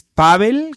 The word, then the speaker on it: Pável: Mi nombre es Pavel, con acento en la A, cónsul general de México en Denver.